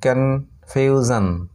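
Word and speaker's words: confusion: তারপরে ওটি দেখো সি ও এন এফ ইউ এস আই ও এন, কনফিউজন, কনফিউজন এটার উচ্চারণ।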